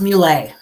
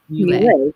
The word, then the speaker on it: Mule: It's pronounced Mule. Mule. Great. I thought I was like, I'm not going to massacre it when it is Mule with the little over the top.